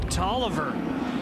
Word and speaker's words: Taliaferro: Talavera wanted to change it so became Toliver I don't know the exact quality but George